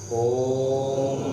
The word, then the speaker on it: ओम: गहरी लंबी सांस भरें और ओ से शुरू करके माँ पे साइलेंट होते हुए ओम का उच्चारण करें।